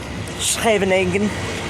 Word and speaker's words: Scheveningen: a place called, I'm going to try and pronounce it properly, Scheveningen, which is like 10 minutes up the road from Den Haag.